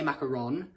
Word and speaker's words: macaron: Because obviously then suppose if it's only 1-O, then you would say macaron. If it's double O, then you would say macaroon.